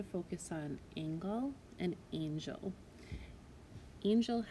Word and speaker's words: angel: on angle and angel angel has a soft g followed by the e l angle has the hard g followed by the l e so those obviously have